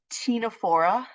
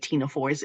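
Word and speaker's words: Ctenophora: you have the philm Tina for um so yes you don't pronounce the c um some of you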